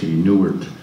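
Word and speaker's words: Neiwert: I just finished a superb book by a guy named David Neuwirth, N-E-I-W-E-R-T, Neuwirth, I think is how you pronounce his name.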